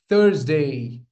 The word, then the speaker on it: Thursday: Thursday. The stress lies again on the first syllable. This is the th sound like we say thank you. Okay. It's not h it's th.